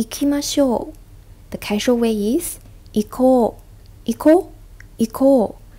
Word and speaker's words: 行こう: The casual way is 行こう. 行こう. 行こう. Be careful, it's a long vowel at the back.